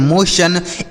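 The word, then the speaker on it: motion: जैसे हमने यहां पर पढ़ा एन ए टी आई ओ एन नेशन एम ओ टी आई ओ एन मोशन एल ओ टी आई ओ एन लोशन ए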